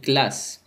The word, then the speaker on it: classe: لاحظوا إلى كلمة classe، لقد أتى ال بعد السي فهو يلفظ K.